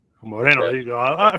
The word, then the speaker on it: Moreno: I like to say like the Boricuas do. So Moreno. Moreno.